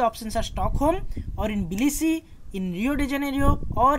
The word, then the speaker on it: Tbilisi: Yes, Tbilisi, T is silent here.